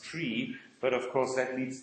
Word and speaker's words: trie: word the thing was coined to resemble the word retrieval and so it's supposed to be pronounced tree but of course that